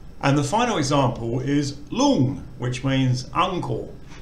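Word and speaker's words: ลุง: So again, we have the ngongu final consonant, which makes an NG sound. You can continue voicing it, so it's a live syllable. We've got the short O vowel, and the initial consonant is lo ling, which is low class. So because it's low class and a live syllable, it just makes a mid-tone.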